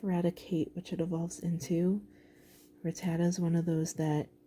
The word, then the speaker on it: Rattata: So this is, I pronounce it Rattata. Rattata. Yeah, and some people are like Ratata or something, which I think is what I said in the last video.